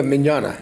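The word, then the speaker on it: Mignogna: the uh you know Vic I can never pronounce his last name uh the voice actor Vic minana yeah minana yeah uh and the other question is you're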